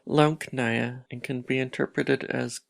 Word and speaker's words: Leckna: My language, which can be pronounced Leckna and can be interpreted as can speak, is an international auxiliary language.